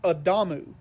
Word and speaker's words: Adamu: The original person was Adamu. A damu. It's spelled exactly like Adam in the Bible with a U on the end.